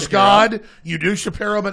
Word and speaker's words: Shapiro: You do Shapiro, but not me. Yeah. I'm pretty sure it's pronounced Shapiro.